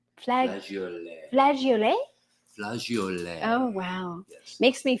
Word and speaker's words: flageolet: green colored bean that we were trying to pronounce flageolet. Flageolet. Flageolet? Flageolet.